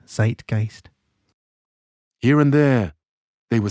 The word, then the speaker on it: Zeitgeist: So zite and gist and use the German spelling. So it's because it's pronounced with the with the emphasis on the I. So zite and gist.